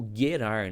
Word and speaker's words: Gerar: Chegando nessa região, eles encontram um local chamado Gerar ou Guerar, né? Na verdade, o a pronúncia certa é guerar, né? Porque o G no hebraico ele tem som de G, né?